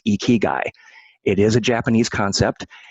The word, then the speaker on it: Ikigai: did in a presentation about Ikigai, which is pronounced Ikigai.